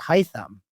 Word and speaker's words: Haitham Hassan: Pronounced Haitham.